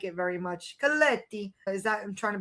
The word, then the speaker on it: Colletti: Am I pronouncing your last name right by the way? Colletti, okay. I knew I was doing something wrong. Colletti.